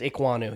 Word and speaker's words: Ekwonu: Did I say it right? I think it's Ekwonu. Yep. Ekwonu.